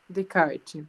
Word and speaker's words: Descartes: Isso, vamos pronunciar Descartes. Descartes.